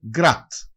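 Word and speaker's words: град: Γκραντ. Γκραντ σημαίνει πόλη. Συνήθως προφέρεται γκράτ.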